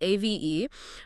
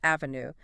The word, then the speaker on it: Ave: And just a quick note on the spelling, it is spelled a v e, but it is pronounced like the Latin Ave, as in Ave Maria. It is not pronounced avenue.